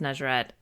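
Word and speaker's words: Nejeret: nature issue and then everyone just became a or pronounced nazerette uh n-e-j-e-r-e-t for both male and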